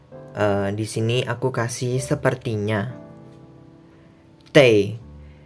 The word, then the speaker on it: 得: Tei. Ini bacanya tei, bukan te kalau di kalimat sini.